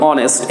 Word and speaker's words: honest: মানে কেউ কেউ বলেন যেমন অনেস্ট, HONEST, এখানে অ সাউন্ড হয়, ভাওয়েল সাউন্ড, হ নয়।